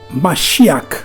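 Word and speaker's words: משיח: Le mot ouin en hébreu, c'est Mashiach, puisque en hébreu, c'est K, on prononce K.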